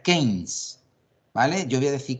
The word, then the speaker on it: Keynes: se escribe Keynes, pero se pronuncia Keynes, ¿vale?